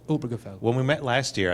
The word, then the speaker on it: Obergefell: being a German teacher it's obergefell okay not really it's not obergefell this stress is on the Oh distressed on the old obergefell when we met last